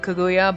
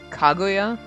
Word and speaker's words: Kaguya: back and forth because i'm so used to calling him kaguya but i know it's probably kaguya it's where the accent is in a name we've probably been saying